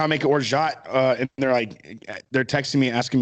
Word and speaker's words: orgeat: Orgeat, an almond, or some pronounce it orgeat, or some even say orgeat. But just say orgeat.